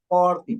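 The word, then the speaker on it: forty: 40. Yeah, you have your microphone off, on, Freddy. I don't know if you are aware of that. But right here, the stress syllables goes in the first syllable.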